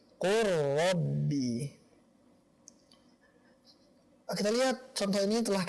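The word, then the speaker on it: قُلْ رَبِّ: Bukan seperti ini, qul rabbi. Akan tetapi qur rabbi.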